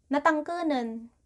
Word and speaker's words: natangkenan: And for our last word, natangkenan.